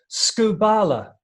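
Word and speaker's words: σκύβαλα: Paul uses the word rubbish, but actually the Greek word is the word on your screens, which is pronounced skubala.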